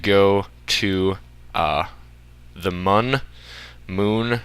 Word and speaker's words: Mun: to uh the mun moon right there it's spelled mu N I think it's still pronounced Moon actually uh so you